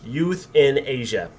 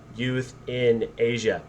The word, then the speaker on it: euthanasia: um and it's pronounced youth in asia all right that it doesn't look like euthanasia because it starts with an e but youth in asia oxford defines euthanasia as